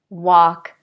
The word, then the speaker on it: walk: kind of strange way so again with these forget about the L we don't say it at all the vowel is ah ah and we say talk chalk walk stalk okay I have one